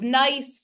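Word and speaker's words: gneiss: foliated banding that's nice I know it doesn't look like it's pronounced nice but it is and the other one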